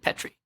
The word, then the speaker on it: Petri: There's another Petri who's a journalist, but I think she pronounces it Petri.